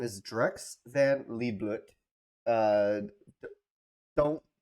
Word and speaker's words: Liedblut: name wrong it's not Li BL it's not like think think of um Elfin lead you know it's a it's German saying lead then BL lead BL um that's my name